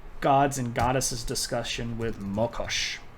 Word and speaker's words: Mokosh: and goddesses discussion with Mokosh. Sometimes you'll see this pronounced with an A at the beginning, so Makosh.